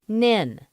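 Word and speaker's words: NHIN: network was known as the nhi n pronounced Ninh but then this was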